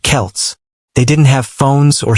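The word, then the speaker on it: Celts: The people who lived there were called the Selts, pronounced Kelts.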